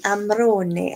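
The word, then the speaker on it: Amarone: Time to get my Arran Amrone out, which is always one benefit of dating an Italian. I know how to say the E at the end.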